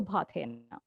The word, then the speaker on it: Bhathena: Usually, the last name is tricky because it comes from an old Parsi village in Gujarat called Bhatha. So it's like from Bhatha, so Bhathena.